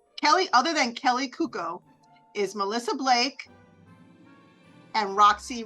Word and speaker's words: Cuoco: how do you say her last name Mercy Cuco Kelly other than Kelly Cuco is Melissa Blake and Roxy Rodriguez they're both